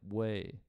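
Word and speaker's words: OUAI: I think it's pronounced Way. It's O-U-A-I. Oh, that was you, Shameless? Yeah. O-U-A-I. Way.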